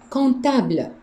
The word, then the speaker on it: comptable: Le comptable. And I don't want you to pronounce the M. Le comptable. It means the accountant. The M and P are silent.